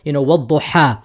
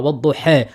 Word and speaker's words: وَالضُّحَى: So for example, وَالضُّحَى, or you can do imala sughra, وَالضُّحَى, or you can do imala kubra, وَالضُّحَى. You can do it all of these three types, right?